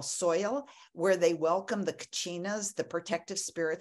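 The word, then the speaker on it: Soyal: the Hopi Indians celebrate a festival that they call soil yeah like rhymes with royal soil where they welcome the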